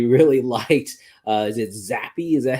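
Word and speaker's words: Zappe: said that they really liked uh is it zappy is that how you pronounce his name yep yeah they really liked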